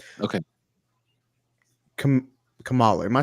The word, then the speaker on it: Kamala: go uh one by one right okay Kam Kamala am I saying that right Kam comma there we go KLA Harris they out there